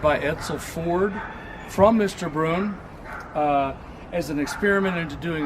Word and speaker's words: Brunn: Brunn. Herman Brunn, coach builder in Buffalo, New York. It's the only one. It's the only one ever made. It was ordered by Edsel Ford from Mr. Brunn as an experiment into doing a smaller town